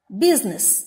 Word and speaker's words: business: letter b is silent next business business the letter i is silent half half the letter